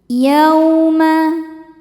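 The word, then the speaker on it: يوم: Yauma. Yaw ada harfulin atau huruf lin sebab ada waw sukun sebelumnya baris fathah. Cara bacanya cukup dilembutkan atau dilunakan.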